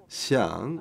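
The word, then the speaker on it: 象: So it's almost there, and because elephant in Chinese it's pronounced as xiang, and it's very similar to the meaning of fortunate or fortune.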